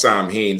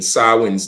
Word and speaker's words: Samhain: tradition of sin or Sam ha um mispronounced Sam ha sawi's day which today is